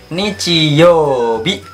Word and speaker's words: 日曜日: Hari Minggu yaitu bahasa Jepangnya Nichiyobi.